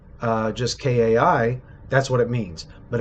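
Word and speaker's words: kaʻi: And if you spell kai and if you pronounce kai just kai, that's what it means. But if you put a glottal stop between the a and the I and you say kai, that means to lead.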